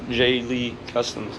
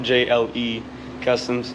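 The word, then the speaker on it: JLee Customs: is jonathan lee and jaylee cusms is pronounced j lee customs it's not jle customs i'm a sophomore at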